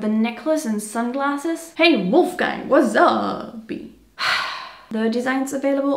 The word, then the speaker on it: Wolfgang: Pronounced with an American accent, it's Wolfgang.